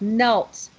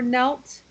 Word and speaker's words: knelt: So remember, this is a strange word because we don't say the K, right? We don't pronounce the K.